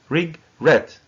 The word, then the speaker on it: regret: And the stress is on the second syllable. Regret.